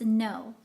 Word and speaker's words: Ngo: your last name it's no so so the G is silent and it's like yes and no gotcha and spill and